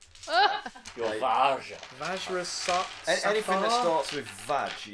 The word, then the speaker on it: Vajra: It's pronounced Varja. Vajra. It's Vajra.